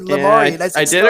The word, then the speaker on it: Lamourie: Yeah, it rhymes with story. So you said Lamourie.